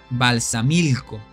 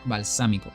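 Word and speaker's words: Balsamilco: quizás no lo leyeron se pronuncia balsam milco Yo decía balsámico Disculpen por ese error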